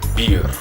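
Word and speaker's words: birr: Beer. Not alcohol, not Budweiser, but it's Ethiopian money. It's called beer. It's spelled B-I-R-R, which is their dollars.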